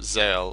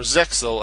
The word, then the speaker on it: ZEXAL: Zale, or Zexal as it's called in the English version, the English dub. I still prefer Zale. I like that the X is not to be pronounced.